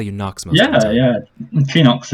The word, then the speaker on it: Chiinox: you Knox yeah yeah Phoenix is uh how I pronounce it I guess it's supposed to be pronounced yeah where are we